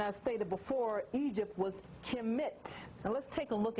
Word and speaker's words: Kemet: This symbol here, I don't quite know what it is, but it gives you the KH or the K sound. So this spells Kemet, the black land, the Ka.